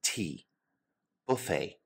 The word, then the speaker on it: buffet: Our next type of restaurant is probably my favorite, the buffet. Buffet is a French word in origin, so we do not pronounce the T. Buffet.